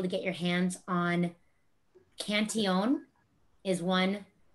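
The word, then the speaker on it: Cantillon: get your hands on cantion is one it looks like it's spelled cantillion cantion is one that comes directly out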